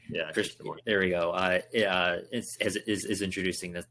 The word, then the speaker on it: Krishnamurthy: So I think it's good that Representative I'm going to mispronounce his last name. Krishnamurthy. Yeah, Krishnamurthy.